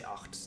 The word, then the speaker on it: Acht: I say Deadfish because I do speak German, so I do know how it's pronounced, or at least my German thing is from the northern part of Germany, if that is like with accents and stuff, so I say Acht.